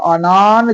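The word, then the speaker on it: أنا: என்ன தப்பா ஓதுறீங்க வலா அனா தெளிவா இருக்கு அனு இப்படி ஓது சரியா உங்களுக்கே தெரியல அப்படின்னு சொல்லலாம் ஆனா இங்கதான் நம்ம ரசூல் பாடம் படிச்ச உங்களுக்கு தெரியும் அனா என்று குர்ஆன்ல எங்க வந்தாலும் அதை அன என்றுதான் உச்சரிக்க வேண்டும் நல்லா மைண்ட்ல சிந்தனையில பதிய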